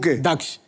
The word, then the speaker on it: दक्ष: सबसे पहले तो मैं आपको थैंक यू बोलूंगा क्योंकि आपने मेरा नाम बिल्कुल सही प्रोनाउंस किया है। दक्ष लोग मुझे मुझे क्या बुलाते हैं? लोग मुझे दुख बुलाते हैं।